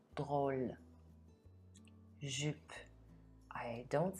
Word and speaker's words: drôle: So unless the word is only one syllable long, E will always be silent when it's at the end of the word. Let's do some example. Ami, drôle.